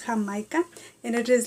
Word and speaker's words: Jamaica: call agua de jamaica you spell jamaica like jamaica but it's pronounced hamaika and it is like